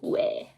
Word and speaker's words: 왜: In modern Korean language, everybody would pronounce it as 왜.